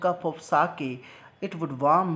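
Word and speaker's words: sake: यानी उसका फादर ये बोलता है कि काश में एक जो लिक्विड, यहाँ पे एक लिक्विड है जिसका नाम है साके, इसको साके प्रोनाउंस करेंगे, तो वो बोलता है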